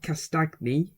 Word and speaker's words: Castagne: say the last one george castagne castagne that's how you say it like lasagna maybe i'll just call